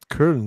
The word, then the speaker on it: Köln: Köln is how you say it.